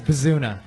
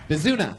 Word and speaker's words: Bazuna: It's Bazuna. Bazuna. Rhymes with tuna.